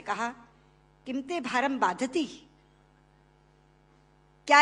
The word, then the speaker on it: बाधते: कष्ट दे रहा है, क्योंकि बाधती शब्द का अशुद्ध उच्चारण आपने किया है। ये शब्द बाधते होना चाहिए। भारम न बाधती राजन यथा बाधती बाधते।